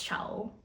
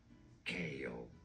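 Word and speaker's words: Chaol: Chow? No, simply Kale. Kale. Okay. So it's not Chow, Kale. Okay, that sounds way better than Chow, honestly. So right now I am leaning towards Kale.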